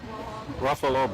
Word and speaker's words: Ruffalo: What will Mark Ruffalo, however the he pronounces this? Ruffalo.